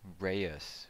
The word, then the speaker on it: Reus: so this game is Reyes Reyes Reyes I know the pronunciation the name is re us and let's see if